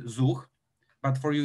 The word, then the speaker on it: Zuch: cloud service provision system in polish it's called zuch z-u-c-h we pronounce it zug but for you it's